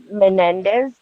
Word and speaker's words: Menendez: Menendez brothers Menendez several family members have came forward and talked about the SA that went on.